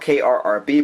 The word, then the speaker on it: Krrb: It's spelled K-R-R-B, but it's pronounced Krrb.